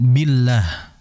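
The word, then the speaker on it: بالله: Namun harus diperhatikan beberapa hal, terutama tadi a'udzu billah. Billah ketika masuk huruf lam, ingat huruf lam itu ujung tepi lidah billah, billah. Bisa juga di gigi seri atas ya.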